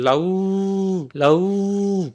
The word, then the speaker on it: লাউ: লাউ, লাউ, তার মানে উ উচ্চারণ করতেছি না, আমরা বলতেছি লাউ। তাহলে উ এ আমরা অর্ধেক উচ্চারণ করতেছি, এই জন্য এটা হচ্ছে অর্ধ স্বরধ্বনি।